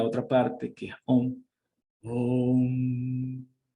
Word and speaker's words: Om: Om. Si ustedes se pueden dar cuenta, la pronunciación de la M es como la pronunciación de un buey, de una vaca.